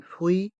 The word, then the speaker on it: fruit: de mer du poisson dans le mot fruit il y a le son oui avec les voyelles U et I et dans ce mot le T et le S sont mués du poisson attention ce mot